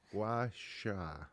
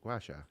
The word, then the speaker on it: gua: of a gacha face massage I could barely pronounce that gacha gu Gua right Gua yeah okay perfect and what what's origination of